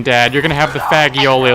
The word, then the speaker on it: fagioli: And I mistakenly pronounced fagioli the first time before I realized what it actually was.